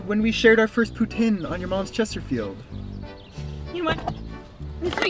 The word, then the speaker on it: poutine: the couch I'm learning by the way it's poutine you Goosebumps Simple Plan loving Peg with arm Skinner than Celine Dion don't stop apologizing oh my God so anyway so she called it poutine which is it I'm so confused now oh